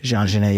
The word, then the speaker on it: Jean Genet: The French poet, Jean Genet. I can't say it the correct way. Jean Genet? Jean Genet, yeah.